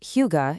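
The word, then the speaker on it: hygge: Higa, pronounced huga, is a huge part of Nordic culture and it's totally connected to their environment.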